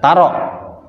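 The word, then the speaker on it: تَرَ: Dibuang huruf ilatnya jadi baca pendek. Taro.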